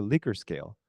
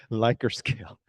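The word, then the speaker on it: Likert: with the pronunciation because many people pronounce as a liquor scale but liquor scare is like your level of your alcohol level if you say my liquor scale is 20 oh you're not that strong the vodka is like 40 That's the liquor scale right you have to pronounce it lier scale because I remember I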